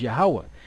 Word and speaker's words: YAHAWAH: gadites that were here they pronounced the name of the most high yo y y y ywa which is close to the most High's name right which is yahawah now check this out